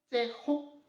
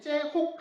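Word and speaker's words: צחוק: 좀 굵은 글씨로 해놨는데 이 발음은 조금 신경 써야 됩니다. 그러니까 혹 이렇게 발음할 게 아니라 그냥 우리의 히읗이 아니라 이렇게 뭐랄까 목에서 가래 끓는 하는 발음을 해야 됩니다. 그래서 째혹입니다. 그 째혹이 아니고 째혹이라고 발음해야 되고요. 좀 가래 끓는 소리가 나야 됩니다.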